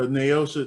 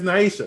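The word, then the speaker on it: Naysha: season eight when uh naosha namdaeosha uh how do you say her name lopez naisha naisha there we go when naisha just walked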